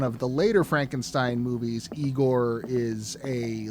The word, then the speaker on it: Igor: then in one of the later frankenstein movies igor is a like burly blacksmith type it's pronounced i go yes um but there is